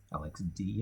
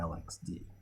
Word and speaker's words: LXD: It's really running under LXD. Or LXD, they want that pronunciation. They say that on the site. Here's the correct pronunciation, LXD, LXC.